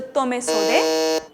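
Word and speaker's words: tomesode: The original pronunciation is a tome sode.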